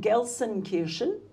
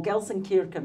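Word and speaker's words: Gelsenkirchen: we are here in Germany we're actually in gsen Kirin or gsen Ken I've heard it pronounced both ways Cricket's not here the cricket's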